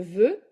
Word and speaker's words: veut: de plus près vouloir je veux tu veux elle veut all of them have the same prononciation veux veux veux nous voulons vous voulez